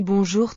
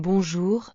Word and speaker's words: bonjour: Je prononçais le mot comme bonjour avec un R très marqué.